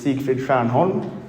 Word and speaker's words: Siegfried Stjernholm: And my name is Siegfried Stjernholm, that's the pronunciation.